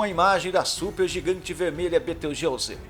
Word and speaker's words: Betelgeuse: Betelgeuse possui uma pronúncia meio confusa. É algo como Betelgeuse, mas, como se diz em inglês, Betelgeuse.